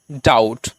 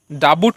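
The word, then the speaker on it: doubt: করবো না আর কি বির পরে যদি টি থাকে তখনও কিন্তু সেই টি এর আগে যে বি টা রয়েছে সেই বির উচ্চারণটা কিন্তু আমরা করি না যেমন দেখুন প্রথম উদাহরণ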